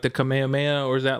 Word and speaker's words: Kamehameha: do the uh commandments who is it it's pronounced kamehameha yeah commandment that's so weird because when he does it he it sounds like he's saying kamihami ha i think it's like commenting yeah that's what